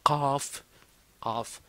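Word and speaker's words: قاف: C'est difficile de de de de de de de de l'écrire en français mais mais c'est pas vraiment KF.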